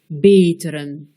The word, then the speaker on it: beteren: E muet, begrijpen, E bref, belkrediet, E long, beteren.